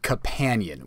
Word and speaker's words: Cupanion: Number one is called Companion, which is spelled Cupanion.